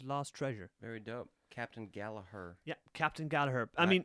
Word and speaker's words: Gallagher: gatherer and his lost treasure very dope captain gallaher yeah captain gallaher i mean not gallagher gallaher okay people in england pronounce it gallagher like liam gallagher and noel gallagher you know